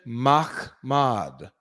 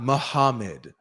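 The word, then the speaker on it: מחמד: Transliteration. Machmad. Machmad. That's how to say it. It's not Muhammad. doesn't have the correct vowels or or anything like that for it to even give that sound.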